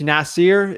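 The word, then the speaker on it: Nasar: named from Charlotte Nasser so it's spelled n-a-s-a-r that dude is the OG he's also known as the real estate Guru uh it's uh it's Nasir it's the way you say it but it's n-a-s-a-r El Arabi uh just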